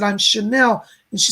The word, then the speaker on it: Chanel: hear a girl saying my name is chanel like the designer it's not coco chanel it's a different but it's a young girl